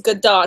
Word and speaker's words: Gadot: I had heard Gal in an interview say it was Godot. So that's why I've been saying it Godot.